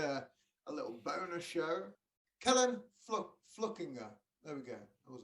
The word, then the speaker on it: Fluckinger: Well, lots of people see F-L-U-C-K and they think Fluck, and then I-G, they're thinking there should be an N in there, Inger. So Fluckinger is usually the mistake,